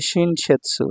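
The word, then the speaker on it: 新雪: আতারাশি শিন আর এখানে হলো ইউখি ইউখির সেৎসু উচ্চারণ হবে এখানে সেৎসু তাহলে শিনশেৎসু শিনশেৎসু মানে হচ্ছে ফ্রেশ স্নো মাত্র পতিত হওয়া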